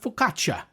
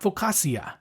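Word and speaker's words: focaccia: Now this is the same principle around the pronunciation of faukatcha. It's not faukasia.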